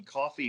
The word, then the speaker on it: Ko-fi: For people like me, by the way, who didn't know originally, coffee is not spelled like coffee.